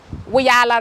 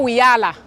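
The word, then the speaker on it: Wiyaala: And the way you pronounce my name, a lot of people keep asking, how do you say my name? It's Wiyala Rejimba, but just say Wiyala. It's not Wiyala. It sounds like Rihanna, which is amazing, but it's, yes.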